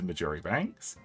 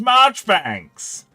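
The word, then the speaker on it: Marjoribanks: would have I have heard of you Mr majori Banks it's pronounced marchbanks you should know you should know me because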